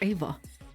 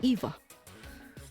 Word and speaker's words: Eva: Why are they calling her Ava? Her name is clearly Eva.